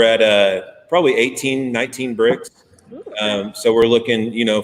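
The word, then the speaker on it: Brix: break break right red it's actually pronounced bricks great and it's Bri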